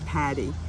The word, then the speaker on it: Paddy: legally but um i go by patty i spell it p-a-d-d-y in deference to my father's irish background background and you're a teacher